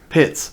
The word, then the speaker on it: Pitts: His name rhymes with tits. Pitts.